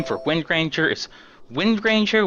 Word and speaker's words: Windranger: for wind ranger is windranger with a hard G windranger I'm just going